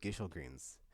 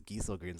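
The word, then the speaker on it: Gysahl Greens: with GE greens but then there's like multiple pronunciations so I was like wait I I I always called it like Gish greens and then like and then Clive says gel greens I was like wait I was thinking it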